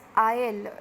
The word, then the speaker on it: aisle: These two words are pronounced as I'll.